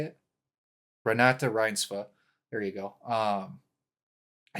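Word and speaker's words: Renate Reinsve: Renata Rinsva.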